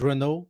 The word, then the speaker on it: Renaud: So, as you say, my name is Renaud. It's French. It's pronounced like the brand car.